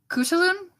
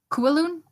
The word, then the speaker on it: Khutulun: Mongolian name but like the most common way I've heard it pronounced is ku saloon or COO elune something like that coup de Lune we're